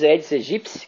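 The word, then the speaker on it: Aedes aegypti: tem aí o grandes eds egipci que a pronúncia correta é correta é esta eds egipci não é a eds egipci como muitos chamam é um grande vetor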